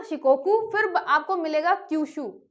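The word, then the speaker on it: Shikoku: Honshu में आपको मिलेगा टोक्यो, उसके बाद आपको मिलेगा शिकोकू, जिसकी स्पेलिंग एस से है लेकिन ये शाह है ना, शिकोकू।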